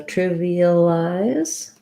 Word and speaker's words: trivialize: for the word trivialize so trivialize has first syllable stress the first letter i is the if sound like in did or trip um so triv then the next letter i is an e sound trevi this letter a